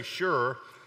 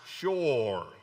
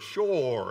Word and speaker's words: Shur: word, we would say Shur, but it's actually pronounced Shur. Okay, never mind. Actually, in the Hebrew, it is pronounced like a two-syllable word, Shur.